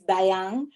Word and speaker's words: Dayang: So da, y, ang. So my brother's name is Diane.